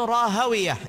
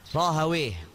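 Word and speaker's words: Rahawaih: Ishaq ibnu Rahawiyah, ini bisa dibaca Rahawiyah, bisa Rahawih. Tergantung bacaannya siapa, bacaannya ahlu hadis atau bacaannya ahlu lughah. Jadi beda. Kalau ahlu hadis bacanya Ishaq ibnu Rahawiyah, begitu. Kalau ahli lughah bacanya Ishaq ibnu Rahawih. Jadi perbedaan antara ahlu hadis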